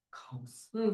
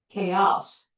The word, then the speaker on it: chaos: 카오스. 다 저렇게 읽거든요. 네, 그렇게 안 읽어요. 여기 S 액센트. chaos. 다른 단어야. chaos. chaos라고 읽어. 카오스 이러면 아무도 못 알아들어.